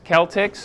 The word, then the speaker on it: Celtx: all right ladies please it is spelled CTX Celtics okay it's more it's more um uh it's not necessarily spelled like you might expect um this is freear you